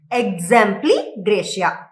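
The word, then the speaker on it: exempli gratia: Exempli Gracia, Example Gracia. Example Graciaவா? No. Exempli Gracia.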